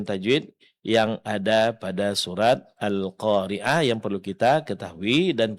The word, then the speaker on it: القارعة: Nah, jangan lupa berhenti pada huruf ta marbutoh, ganti ta marbutohnya menjadi huruf ha sukun. Nah, huruf ha dari segi sifatnya dia termasuk dalam kategori huruf hamas. Berarti dalam pengucapannya mesti keluar angin atau napas atau suara seperti bisikan.